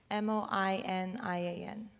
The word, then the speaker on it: Moinian: moynian what's your second name how do you spell it m-o-i-n-i-a-n moinian what nationality if i may ask person